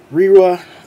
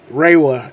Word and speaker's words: Reiwa: But this is the first writer of the Reiwa era. I wasn't saying it right. Reiwa era.